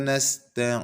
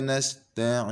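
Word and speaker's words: نستعين: terdengar seperti Huruf mim begitu juga lima weh iyyaka nastain ingin bibir kita terbuka tidak boleh langsung tertutup wa iyyaka nastain ingin seolah-olah seperti Huruf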